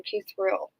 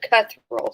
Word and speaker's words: Cuthriell: Okay, that's how you pronounce her last name, Cuthriell. Okay. I would have said Cuthriell, so I'm glad I didn't try to say it again.